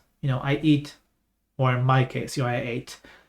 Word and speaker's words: へ: particle otherwise we say ha normally and the e or he is pronounced E when we're using it as a